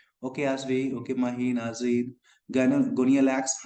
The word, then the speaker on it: Gonyaulax: GONYAULAX, pronunciation क्या करेंगे, गोनियालैक्स, इसको हम लोग बोलते हैं गोनियालैक्स, ठीक है ना।